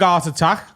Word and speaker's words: Art Attack: It rhymes with heart attack.